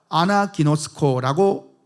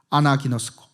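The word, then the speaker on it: ἀναγινώσκω: 이 읽다라는 이 헬라어 단어가 아나기노스코라고 읽습니다. 아나기노스코.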